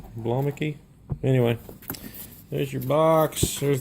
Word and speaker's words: Blomiky: You helped me out with that pronunciation. Blomiky.